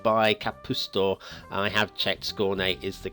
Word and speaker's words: Skåne: I have checked Skåne is the correct pronunciation as well, so there we are.